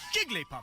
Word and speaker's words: Jigglypuff: take a look here Jigglypuff seem from above Jigglypuff Jigglypuff Jigglypuff seen from above you three syllables see you later idiots